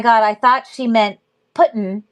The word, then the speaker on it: Putin: Long U. I'm a reading teacher. Putin. Ooh, U. That's a long U versus puddin. Like book, which is a different sound.